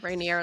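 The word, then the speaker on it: Raniere: Keith, I think it's Rainier. Rainier. Mm-hmm. Okay. Yeah, Rainier, like the mountain. Yeah. I looked it, but pronunciation.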